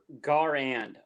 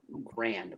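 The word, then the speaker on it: Garand: It's more like Gar and okay. I thought that's what I said. Grand, but You said grand. It's a hard R, Corny. emphasis on the wrong syllable.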